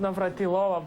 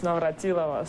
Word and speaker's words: Navratilova: So not Navratilova, by the way, it's Navratilova. So, guys, we have to learn all to pronounce this name because I'm terrible because I speak with all of you.